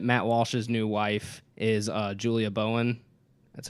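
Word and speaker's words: Julie Bowen: out that that Matt Walsh's new wife is Julia Bowen that's how you say her name modern family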